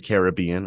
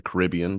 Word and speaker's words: Caribbean: the in the sea the Caribbean or the Caribbean depending on your pronunciation the temperature fluctuates between